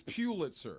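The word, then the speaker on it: Pulitzer: so you know there's or Pitzer Pitzer it's Pitzer yeah is it Heisman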